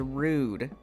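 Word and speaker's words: Rhude: Next is Rude. Oh, I've heard of Rude. And yes, spelled like a license plate made by someone who vapes in a G Wagon.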